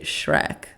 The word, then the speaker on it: Schreck: And just for some clarification, Shrek is spelled S-C-H, like R-E-C-K. But I'm pretty sure you just say Shrek, like Shrek, which is pretty sick.